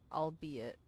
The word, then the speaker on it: albeit: realize that that is how you say it albeit uh there is no harm done after all